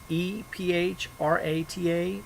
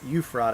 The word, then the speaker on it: Ephrata: p.m tomorrow at ephrata e-p-h-r-a-t-a pennsylvania that's at beam's music studio euphrata or ephrata don't know how to say it it's not euphrata because there's not eu who knows for sure